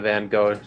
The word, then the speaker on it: Van Gogh: We went to the Van Gogh thing. It's pronounced Van Gogh.